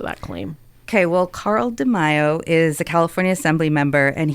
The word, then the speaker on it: DeMaio: Then the second argument that is presented essentially by Carl DeMaio, is that how you say his name?